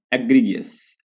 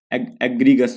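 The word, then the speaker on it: egregious: अगला जो वर्ड है एग्रीगियस। एग्रीगस होगा, एग्रीगस करके बोलेंगे। एग्रीगियस नहीं, आई इसमें साइलेंट होता है, ठीक है।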